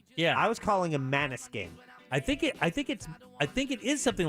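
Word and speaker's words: Måneskin: Yeah, because I thought it was Mainskin. I thought it was Maniskin. But it is Maniskin, isn't it? Is it? Yeah, it's Maniskin.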